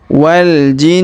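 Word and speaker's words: والجن: Kemudian wal jinnu. Perhatikan huruf na berharokat tasdid atau nu di sini, maka kita tahan dan kita dengungkan 2-3 harokat.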